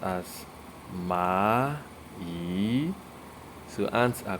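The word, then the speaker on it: 蚂蚁: You can see the characters there, and it is pronounced as ma yi. So ants are called ma yi, ma yi.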